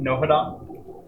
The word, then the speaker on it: Nohadon: So then you pronounce it Nohadon? I'm sorry? Nohadon? Nohadon. Nohadon. You don't pronounce the H.